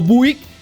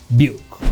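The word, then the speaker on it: Biuk: Vamos a hablar del señor Buuk, no Buik, pero Buuk.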